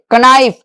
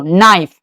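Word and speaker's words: knife: कनाइफ। नहीं। क्या पढ़ेंगे इसको? नाइफ।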